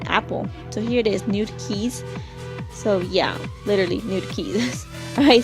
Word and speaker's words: NudeKeys: But NudeKeys, sound like I said new. I meant to say NudeKeys.